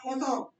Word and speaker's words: croissant: Yeah, croissant. The pronunciation is croissant. Croissant. R pronounce नहीं करना.